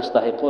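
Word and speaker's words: أستحق: Itu bacanya astahiqqu lah.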